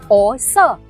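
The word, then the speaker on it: 百色: 因為有人話普通話應該係讀博色，不是白色。其實讀成博色係壯語嘅發音，係由博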